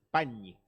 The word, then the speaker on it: Pagni: Pañi, no te olvides que hay que pronunciarlo con ñ. Pañi. Así sería.